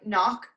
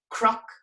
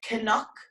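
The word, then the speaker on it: cnoc: silent it isn't okay in ulster that's pronounced like a cr sound so it's crook now in dublin court galway they would actually say canuck canuck they pronounce this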